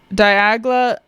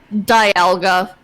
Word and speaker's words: Dialga: by Arceus to live in the Distortion world Diagla and uh Palkia did I not pronounce that right Ewan Dialga Dialga you guys all right Dialga and Palkia